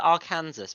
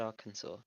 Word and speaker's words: Arkansas: I've heard of I I have heard people called it Aransas but it's AR wrong yeah it's Arkansas that's fully wrong yeah